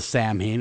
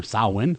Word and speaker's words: Samhain: So, then we moved past the Samhain or Samhain, however you want to say it.